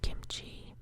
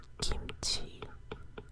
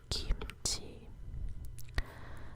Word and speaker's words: kimchi: very important dish called kimchi that's the american pronunciation but if you were trying to speak it in korean kimchi would be kimchi kimchi but this particular vegetable